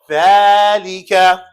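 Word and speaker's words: ذٰلِكَ: There's actually an elongation. Dhalika.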